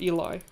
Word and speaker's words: Eli: Both American and English speakers pronounce it Eli. So, Hugo, both are correct, lol. You heard it here first. You can say Ellie or Eli.